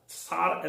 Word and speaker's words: Tsar: जार की spelling है TSAR, सार ऐसा होता है उसका उच्चारण, लेकिन बोलचाल की भाषा में हम उसको जार कहते हैं।